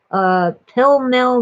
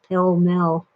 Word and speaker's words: Pall Mall: Since the first time I stole a pack of Mom's, uh, that's better, Pell Mell non-filters. It's spelled Pall Mall, but Mom always pronounced it Pell Mell.